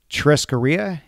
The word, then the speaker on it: churrascaria: On the website, you say that it's inspired by Brazilian churrascaria, am I pronouncing churrascaria, that right? Yeah.